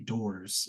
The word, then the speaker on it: DOEHRS: DOORS is how it's pronounced.